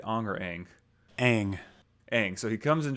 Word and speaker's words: Aang: Aang.